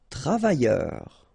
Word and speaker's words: travailleur: Travailleur. Okay, remember double L, y, and then E, U, R, heure.